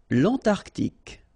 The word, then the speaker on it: Antarctique: Remember, Q-U-E here, it's K. Okay, so tic. L'Antarctique, l'Antarctique.